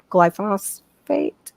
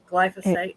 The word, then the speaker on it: glyphosate: GMO and then also the glyphosphate is that how you say it well I suck like you know Roundup they spray it on all the wheat to harvest more to make sure it yeah glyphosate um glyphosate you said it that's